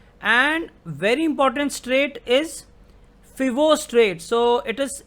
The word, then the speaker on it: Foveaux: very important straight is fibo straight so it is it is spelt as f o v e a u x but it is pronounced as fibo so between south island